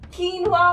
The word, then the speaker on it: quinoa: किनोवा, क्यूनोवा, कीनवा, Keanu. Okay okay, let me tell you, इसकी सही pronunciation है कीनवा। Okay, now let's get back to the topic.